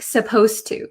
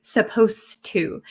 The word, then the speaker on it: supposed to: pronounce supposed to um the D sound and the T sound become kind of like one sound so when I speak supposed to supposed to it doesn't sound like